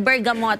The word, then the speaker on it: bergamot: of bergamo Okay o ang spelling ng bergamot but i-pronounce it bergamo um nilalagay yon ah